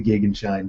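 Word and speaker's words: Gegenschein: the pronunciation of that two or three sites agree that the German pronunciation is the gig and shine so po people tell me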